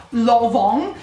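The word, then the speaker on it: Lanvin: c'è qualcuno di voi che sapeva che si pronuncia l'on io sono rimasta abbastanza scioccata non quindi tutti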